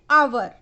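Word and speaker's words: hour: एन आवर। आवर जो एच है वो कैसा है?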